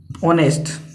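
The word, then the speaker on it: honest: पर लिख रहा हूं जैसे एन ऑनेस्ट और ऑनेस्ट मां अब यहां पर क्या है साइलेंट है अब इसकी साउंडेस्ट निकलेगी ठीक है एन ऑनेस्ट में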